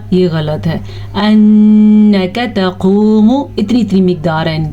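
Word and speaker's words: إِنَّكَ: بجائے حمزہ محسوس ہو۔ انک نون کا غنہ ادا کرنا ہے اور کاف کو بڑی زبر کے ساتھ پڑھنا ہے نہ کہ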